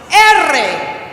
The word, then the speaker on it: erre: But the double R is pronounced erre. Very good. That one's a little more difficult because you have to roll your R's.